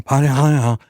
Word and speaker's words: Padilla: And we were talking about Senator Alex Padilla, as he pronounces his name. Padilla.